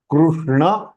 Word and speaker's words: कृष्ण: So Krishna. So Krishna. Krishna is the right pronunciation. It is not Krishna. Samichinam va?